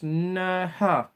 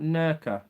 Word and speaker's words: Nerja: Pronounce Nerha. Nerha. Not Nerka.